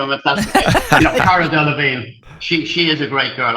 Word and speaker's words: Cara Delevingne: How you pronounce the name, Nat? Cara Delevingne.